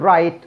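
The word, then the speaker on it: write: يعني تجاهله كأنه مش موجود، يعني ما تقوليش ورايت تقول رايت، رونج تمام، راب ورايت يكتب، رونج خطأ.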